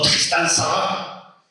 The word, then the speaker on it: Tristan Tzara: Tristan Tzara, o Tristan Tzara, si lo pronunciáramos con acento francés.